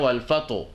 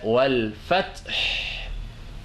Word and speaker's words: والفتح: Ce n'est pas wal fataw ou wal fatih ou bien wal fato. Non, c'est wal fath. Et il faut en ce moment baisser un tout petit peu votre voix. Il ne faut pas hausser votre voix pour mieux prononcer ces deux lettres-là. Wal fath et non wal fatih.